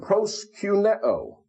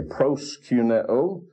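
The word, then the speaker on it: προσκυνέω: But that omicron means little o. Micron means little. Omicron, little o, and it's pronounced o. And if you go to Greece today, they will pronounce that letter just exactly like they pronounce the omega. And so that's why I say proskuneo, not proskuneo.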